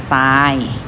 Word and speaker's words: ทราย: ศาลา อ่าน ว่า เศรษฐี ต่อ ไป ทร ค่ะ ทร ออก เสียง ซ โซ่ นะ คะ ไฟล์ อ่าน ว่า ทราย ทราบ อ่าน ว่า ทราบ